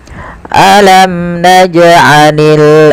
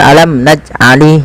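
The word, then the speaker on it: ألم نجعل: Hati-hati di dalam membaca qalqalah ini jangan sampai terjadi kesalahan. Salah satunya yaitu tidak mantul. Misal alam naj alali itu tidak mantul. Yang kedua menambahkan hamzah misalnya alam najalil. Nah, ini salah juga. Maka yang benar adalah dia mengalir saja pantulannya.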